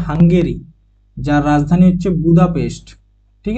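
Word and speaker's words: Hungary: Sergio ম্যাটারেলা next হাঙ্গেরি অনেকে এটাকে উচ্চারণ করে হাংরি হাংরি কিন্তু নয় এটা হচ্ছে হাঙ্গেরি যার রাজধানী হচ্ছে বুদাপেস্ট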